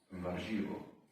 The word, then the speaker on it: warzywo: And vegetable is warzywo. Sounds like Warsaw. Warszawa. Warzywo. Warzywo. How you pronounce the R? Really? Warzywo. You don't pronounce it like French people. Garçon.